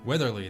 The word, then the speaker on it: Weatherly: Weatherly, that's how it's pronounced.